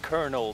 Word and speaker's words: colonel: the hell out of me why is it pronounced konel there's no r in it don't worry about